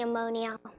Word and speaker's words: ammonia: probably the It's probably the ammonia.